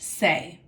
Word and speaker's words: se: SE is pronounced say.